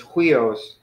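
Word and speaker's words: υἱός: So if it was here, then we would say huios, but we're not. We're actually saying we os. So the accent is on the end, so it's huios.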